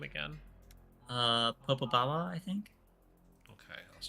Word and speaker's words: Popobawa: Popobawa, I think. Okay, I was trying. Was that Jeffrey? Yes. Yeah, there it is. Popobawa.